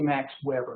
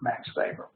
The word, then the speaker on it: Max Weber: vver n r uh he's German and so the W is pronounced as a v if you say Max Weber nobody's GNA know who you're talking about vber vber Max vber uh vber um what